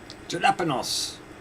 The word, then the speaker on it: Jalapenos: Jalapenos. Ricky, the J is silent.